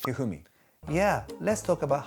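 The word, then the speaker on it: 一二三: I mean, is pronounced Hifumi.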